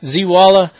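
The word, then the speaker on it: Zeewala: Z Walla. Go over, check out his channel. It's spelled just like it says, Z-E-E-W-A-L-A, Z Walla.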